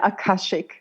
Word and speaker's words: Akashic: give it a crack is it a akashik is that how you say it yeah akashik yeah so um you also